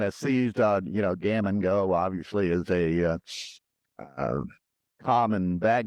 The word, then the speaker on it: Gammon Geaux: ends in e aux is pronounced o, like a long o, right? We just kind of seized on, you know, gammon go obviously is a common bag gammon term.